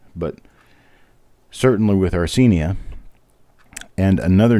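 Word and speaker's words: Arcenia: great great grandmother nope three greats grandmother named arsenia a-r-c-e-n-i-a while people knew her as ceni or arsenia and her name is spelled six or seven different ways on different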